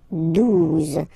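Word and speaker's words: douze: phonetically, 11, okay, 12, 12, O, U, the two together will give you the sound OO, okay, and then Z, 12, 12, all right.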